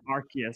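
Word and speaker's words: Arceus: Legends and it's it's like AR is it archus arus yes arus there there are several pron imagine pronouncing it correctly I'm ass um but uh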